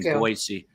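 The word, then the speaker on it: Boise: me an email to not pronounce it like a Z, but a soft S, which I do in Boyisey.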